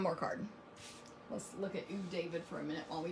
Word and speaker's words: Ew David: But if you watch the show, the way you pronounce this is Ew David. So it's really EW, but Ew David.